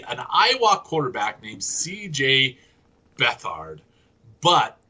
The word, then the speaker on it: Beathard: Bethard, but it's pronounced it's written Beathard.